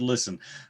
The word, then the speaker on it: listen: Adam is the only person in the world who pronounces the T in the word listen.